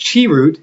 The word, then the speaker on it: Chirrut: It says, pronounced Chirrut.